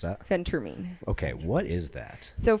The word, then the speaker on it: phentermine: know how to pronounce this how do you pronounce that Phentermine okay what is that so Phentermine is not